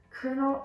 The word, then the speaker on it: Colonel: Her husband, Colonel, yes, you got the pronunciation right, her husband, Colonel Armstrong, killed himself.